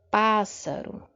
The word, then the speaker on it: pássaro: Nós temos aí a antepenúltima sílaba, não é? Se a gente for analisar de trás para frente, ou seja, da última sílaba até a primeira, a gente tem o quê? A antepenúltima sílaba forte, não é? É a sílaba tônica.